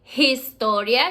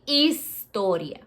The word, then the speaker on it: historia: In Spanish, we call it historia. Remember, the H is silent. So you don't say historia, you say historia.